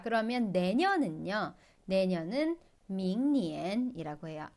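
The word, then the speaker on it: 明年: 내년은 밍니엔이라고 해요.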